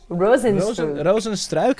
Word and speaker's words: Rozenstruik: about this Curtis Blades Jairzinho Rozenstruik is actually the right way to say it, because it's like, you know, they're from Suriname. They also speak Dutch. You know, they're half Dutch as well, kind of.